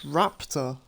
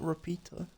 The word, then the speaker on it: Raptor: It's Raptor, not Rapito.